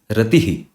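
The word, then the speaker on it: ratiḥ: So the visarga is just an extra expulsion of air. It is just an extra air that you let go after you complete the pronunciation of the word.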